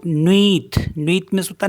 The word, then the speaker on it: nuit: For example जैसे NUIT है, तो इसको पढ़ेंगे हम नुईत। V, क्योंकि UI को V पढ़ते ना, तो नुईत।